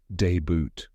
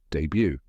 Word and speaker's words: debut: in French we don't pronounce the T at the end a lot of people say deboot or debut but now you know the right way debut fun fact the word